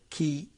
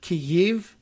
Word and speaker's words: Kyiv: And we end up saying Kiev, like Keev. But that might just be the closest American English pronunciation to that one. Remember we talked about it? Maybe it would have that weird hitch to it, like Kyiv. There's two vowels in there.